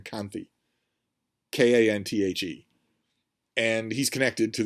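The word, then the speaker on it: Kanthe: here is Prince I I say his name Kanti k-a-n-t-h-e and he's connected to the bad guy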